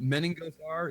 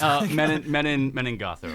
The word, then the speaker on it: Menengothar: And Menengothar is how it's spelled like it sounds. Menengothar.